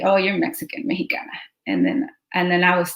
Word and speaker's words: Mexica: So it was like they couldn't pronounce the sh in Mexica, so they changed it to the he, Mexicano, instead of, you know, Mexica.